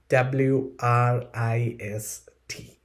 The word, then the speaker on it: wrist: Okay, now let's practice two words with silent W.